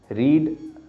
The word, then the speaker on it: read: तो ये रीड, रेड, रेड, RED वाला रेड नहीं है, READ वाला ही रेड है, ठीक है। तो पास्ट में चले जाता है, उसका प्रोनाउंसिएशन बदल जाता है बस पास्ट में।